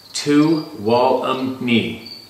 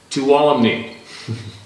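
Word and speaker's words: Tuolumne: Doing some rock climbing in Tulum Meadows, Yosemite, MP, 2017, pronounced Tuwalumni. Tuwalumni.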